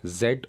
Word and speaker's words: Z: जो last letter है English alphabet का, उसको 2 तरीके से प्रोनाउंस किया जाता है, जेड और जी.